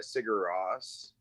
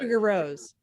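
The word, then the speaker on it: Sigur Rós: i did see uh i always mispronounced their name uh sigur ross at uh sugar rose cigar rose yeah that's true i always i always say sugar rose which is just wrong cigarettes i but i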